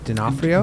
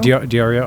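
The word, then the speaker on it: Di Iorio: I co-hosted the show once in Toronto, and one of the Ethereum guys, I think Anthony D'Onofrio, Diorio, okay. Diorio, yeah, right. I might be pronouncing.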